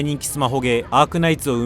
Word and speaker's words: Hypergryph: running for over 5 years "Arknights" operated by Hypergryph (Pronounced Hyper-gry-ph) A new 3D real-time strategy RPG they're